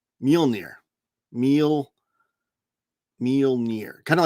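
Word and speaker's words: Mjölnir: Uh I think you spelled it wrong, but it is Mjolnir. It's spelled m j o l n a r. No, m j o l n i r. Mjolnir.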